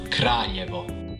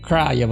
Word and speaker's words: Kraljevo: All right, so how do you pronounce it? Let's hear this. Kraljevo. Kraljevo, okay.